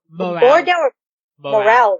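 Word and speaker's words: Morell: Morale, right? Morale, okay.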